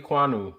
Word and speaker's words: Ekwonu: Akeem Ike Ekwonu.